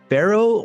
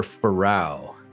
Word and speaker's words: Pharao: We are, is it Pharao or Pharao?